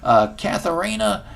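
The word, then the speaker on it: Catharina: Her name was Katharina. Ooh, I love that name. It rhymes with ballerina.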